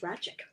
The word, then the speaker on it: Racik: By the way, my name's pronounced Racik.